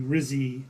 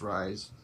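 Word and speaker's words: Ryze: think we're both having the Rizzy mushroom coffee yeah um I think it's pronounced rise those superfoods yeah and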